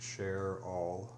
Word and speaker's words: Cheryl: Sandra, the daughter, gave birth to mother, Cheryl, pronounced Cher-all, ultimately Charlotte.